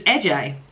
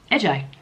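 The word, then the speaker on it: Ece: How to pronounce the first name? E C E. Oh, so it's AJ AJ.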